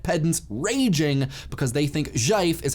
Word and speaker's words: GIF: Zhaif is similar, though the sound to letters relationship is reversed. Its G is uncommon in English, but it's sort of like the S in casual or vision.